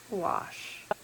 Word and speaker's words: gouache: I had to go to Google and listen several times to the pronunciation, but it is French and it is pronounced gouache.